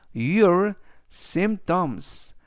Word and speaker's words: symptoms: 그리고 뒤에는 증상이라는 의미로 symptoms 표현을 써 주시면 되겠고요 이때 증상을 영어로라고 말하시면 되겠습니다 이때 는 음은 아니지만 발음할 때 거의 들리지 않고요 그래서 syts라고 붙여 주시면 되겠습니다 즉 전체적 의미는